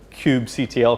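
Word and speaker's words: kubectl: own code or through the cube CTL command some people pronounce it coop cuddle which I find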